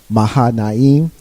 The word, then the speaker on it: Mahanaim: representing her dad who has founded institution mixed maha nayim i said it right the first time in